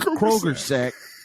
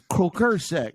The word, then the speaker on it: croaker sack: That's how they pronounce it down there. They call it's a Kroger sack, but it's a croaker sack.